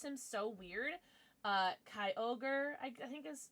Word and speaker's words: Kyogre: Kyogre, I think is how you're supposed to pronounce it, but I used to pronounce him Kyorgi, so I know that's wrong.